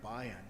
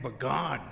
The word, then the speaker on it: Bayan: And how do you say that guy's name? Ryan Bayan. I've been calling him Ryan Bagan all these years.